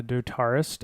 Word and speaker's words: dotarist: the follow and dotarist I'm assuming it rhymes with like guitarist uh dotarist uh followed us as